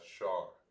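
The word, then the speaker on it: שר: Prince in the Hebrew is pronounced as Shar.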